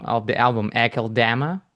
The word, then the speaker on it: Akeldama: The Faceless and the having problem with pronouncing the name of the album, AKELDAMA. AKELDAMA.